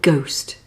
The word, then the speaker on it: ghost: Here are a few more words with a silent H. Hour, honour, honest, exhausted, vehicle, and ghost.